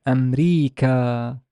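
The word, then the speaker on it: أمريكا: It's the Hamza Fatha. The Meme has Sukun. The Re has nothing, but it has Kasra because I know by the Ya. The Kaf has nothing, but there's an Alif, final Alif, and I would pronounce it as Amrika.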